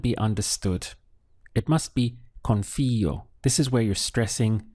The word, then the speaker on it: confío: Saying I trust in Spanish is confío. So we have con followed by fío. Notice the accent over the I. That's important because if you said confío, it wouldn't be understood. It must be confío.